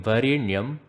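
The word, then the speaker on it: वरेण्यम्: Now what you have to do here is, you have to pronounce the N in Varenyam by having your tongue touch the roof of the mouth, the hard palate to be precise. So it should sound as Varenyam.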